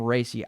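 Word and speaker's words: Raci: uh nowhere paul racy i think you pronounce his name racy i saw someone say that on twitter paul racey from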